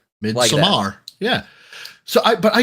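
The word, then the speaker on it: Midsommar: and the word stems from Swedish which is pronounced midar yeah so I but I got so I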